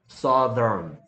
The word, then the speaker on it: southern: 근데 요걸 삿갓 발음이라고 하는데 이거는 큰 어랍니다. 큰 어. 그래서 southern이 된 거야. southern, south, southern.